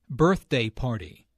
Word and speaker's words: birthday party: Birthday party. Notice that the normal stress for a compound noun falls on the first element of the compound.